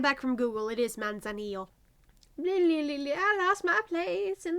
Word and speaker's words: Manzanillo: You know what, I actually never looked up how to pronounce that. 1 second. Okay, I'm back from Google. It is Manzanillo.